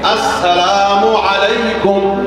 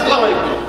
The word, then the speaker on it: আসসালামু আলাইকুম: আসসালামু আলাইকুম, এই সিনটা উচ্চারণ ঠিক মতো হয় না, খালি সালাম আলাইকুম।